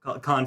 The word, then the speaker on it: Cannes: So this film won the Palme d'Or at the 1992 Palm Film Festival, Cannes Film Festival, not Palm Film Oh, Festival. apparently it's Can. Cannes, I don't know.